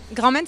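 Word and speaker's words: Grand Mayne: Grand Maine, ça s'écrit comment ?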